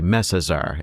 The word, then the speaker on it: Messazar: I've heard it kind of pronounced either way, and the chief librarian who will succeed him is known as the Messazar. It's only ever been pronounced that way.